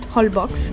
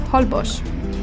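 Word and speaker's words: Holbox: place you cannot miss whole box or better pronounced holbosch this is a thin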